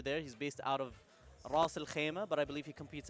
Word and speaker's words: Ras Al Khaimah: How do I say that? Russell what? Ras Al Khaimah. Russell Hammond? Ras Al Khaimah. Oh, Russell Khaimah. There we go, yeah. Russell Khaimah. That's the American pronunciation.